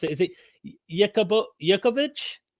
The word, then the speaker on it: Jacobovici: Today I have Simcha, and I just remembered your last name and how to properly pronounce it. Is it Jacobovici? Jacobovici.